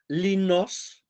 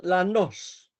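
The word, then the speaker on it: λανός: whole Greece it's called linos with eta, on the island, the long eta turns into a long alpha, and the everyday word is pronounced lanos with long alpha.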